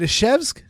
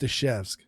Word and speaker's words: Izhevsk: I believe it's pronounced Ishevsk.